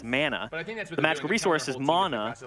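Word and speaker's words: manna: M-A-N-N-A is the bread from the gods, and that's mana.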